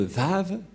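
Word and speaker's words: ו: yahoshua est vrai que ça se prononce vraiment V voilà donc le vave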